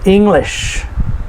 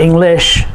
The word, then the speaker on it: English: For example, English. It's not English, but it's English.